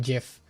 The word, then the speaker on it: GIF: I'm telling the creator of GIFs that is pronounced GIF. We had a poll. I think in this community, most people pronounce it with a hard G as well.